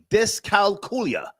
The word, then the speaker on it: dyscalculia: Dyscalculia. That's how you pronounce it.